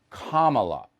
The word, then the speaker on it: Kamala: supporters despise kamala harris that's how you say her name kamala like comma all right you can